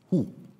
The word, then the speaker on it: Hu: magic spell which is Hu you have to pronounce it in German is who so we have to